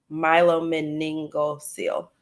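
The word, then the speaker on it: myelomeningocele: how to pronounce myelomeness Milo meningo seal that is how you pronounce it I did it right my low man name go seal I'm writing it for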